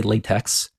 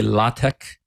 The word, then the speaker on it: LaTeX: fancy you can say latek uh which is my understanding is how it's officially pronounced but in any case